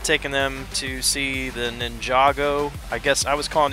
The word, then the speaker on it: Ninjago: She put the emphasis on the wrong syllable, but...